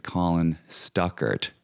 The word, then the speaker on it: Stuckart: host of that show his name is Colin Stuckart not Colin stuck worth I don't even know where